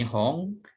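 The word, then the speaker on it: 本: Ini yang tengah ini Hong, ini juga sama.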